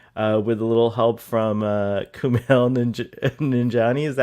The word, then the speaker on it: Kumail Nanjiani: hopefully, we hope, with a little help from Kumail Nanjiani. Is that how you say his name? Kumail Nanjiani, yeah.